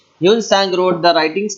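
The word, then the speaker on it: Hiuen Tsang: Here T is silent, so we will pronounce as Sang. Hyun Sang. Hyun Sang wrote the writings called as Siyuki.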